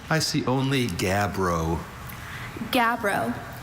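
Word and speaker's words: gabbro: Are there any alternate pronunciations? I see only gabro.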